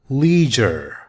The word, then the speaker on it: leisure: three work and leisure listen to how this word is pronounced it sounds like JA leisure leisure means free time